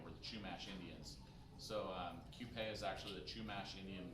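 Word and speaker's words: Qupé: Okay, myth number 3 about the Rhone Rangers is that Ethan's winery is pronounced Cupid. True or false? That's false. Yeah, so Cupé is actually, if you've ever seen our label, there's a poppy design on the label.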